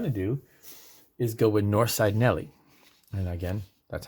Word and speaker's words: Norside: So what I'm going to do is go with Norside Nelly. And again, that's how it's pronounced. In Pittsburgh, you have Southside and Norside, and that's just how they pronounce it.